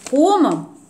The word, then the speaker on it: комом: раз тогда появилась пословица первый блин комом через а то есть комом медведям комом ком и вот оказывается как правильно надо произносить а совсем не от слова ком это уже более современное такое прочтение этой пословице поэтому он у меня